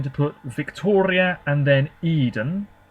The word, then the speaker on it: Eden: put Victoria and then Eden or Ed n as you probably pronounce it in Sweden uh oh yeah is